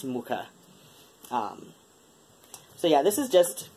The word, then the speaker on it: Mucha: This is Tarot Mucha, after Alphonse Mucha, the, one of my exes insists on pronouncing his surname as Maka, which, like, even you go to Wikipedia and you play the little sample of how it's pronounced, and it sounds nothing, you know, like Maka. It's Mucha.